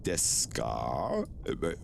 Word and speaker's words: ですか: ですか This is desu, but you pronounce it like desu. Like you almost, you say like 1% of the su. Like deska.